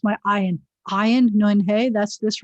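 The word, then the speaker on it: עין: You're not supposed to pronounce an ayin the same way you pronounce an aleph. Aleph, ayin. With the same vowel under it, it's slightly different. Well, the consonant sounds different.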